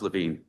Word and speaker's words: Levine: Is it Levin or Levine? Pronounce Levine, Mr. Chairman.